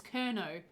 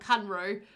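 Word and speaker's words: Kernow: and also cordelia conroe i've just realized i've been saying that name wrong this whole time it's kerno not conroe i mixed around some of the letters sorry yeah no there's definitely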